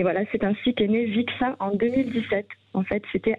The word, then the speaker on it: Vik Sein: Il suffit de télécharger l'application Vixin. Alors, ça s'écrit VIK, hein ? C'est ça, VIK et Sein.